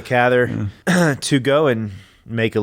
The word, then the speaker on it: Cather: of this book willing the catheter wanting to say catheter with a Cather to go and make